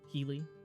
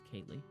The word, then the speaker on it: Kaylee: Keely? It's spelled like Keely, but it's Kaylee.